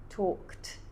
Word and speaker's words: talked: That is a situation where the ed is pronounced like a t because you have a k talked. It's very difficult to say talked with a d talked.